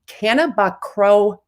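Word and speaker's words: cannabichromene: So it's pronounced, ready? Cannabichromine.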